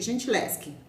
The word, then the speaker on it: Gentileschi: Se escreve Gentileschi, mas se lê Gentileschi.